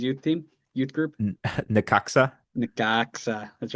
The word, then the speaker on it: Necaxa: Necaxa. That's right. We know how to pronounce that now.